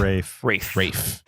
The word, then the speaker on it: Ralph: It's directed by Fernando Meirelles, and it stars Ralph Fiennes? Rafe? How do you say this guy's name? Rafe.